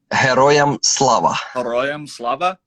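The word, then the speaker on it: Героям слава: just so i know heroium slava yes a hero it's similar yeah yeah it's pretty similar to hero so hey black dahlia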